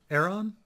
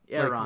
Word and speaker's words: Aeron: Aeron. Aeron. Like, there you go. Like the damp hair.